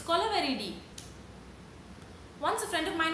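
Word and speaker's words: Kolaveri Di: We don't interrupt your flow when you're singing Kolaveridi. It's not Kolaveri, it's Kolaveridi.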